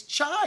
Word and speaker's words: Tsai: her say he goes it's not psy it's chai you know that she